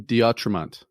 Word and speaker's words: D'Autremont: So look for Drunk Conspiracies Podcast and one-on-one with, make sure I say this right, Justin Diatremont.